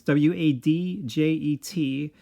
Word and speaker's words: Wadjet: And I kind of feel like they are trying to reference the goddess Wadjet, I think is how you pronounce it. It's Wadjet.